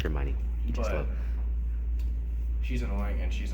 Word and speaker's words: Hermione: They meet this annoying girl named I can't really pronounce her Hermione. because it's weird. Yeah, it's Hermione.